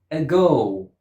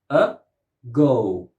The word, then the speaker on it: ago: Ago. Ago. 2 syllables. Ago. The first syllable has a schwa and is not stressed.